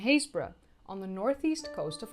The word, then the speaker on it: Happisburgh: Europe are found in Happisburgh (pronounce as Haze-bruh!)